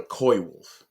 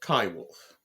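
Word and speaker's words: coywolf: coyote wolf hybrid uh it shouldn't be called a koi wolf it's a Kai wolf or you know just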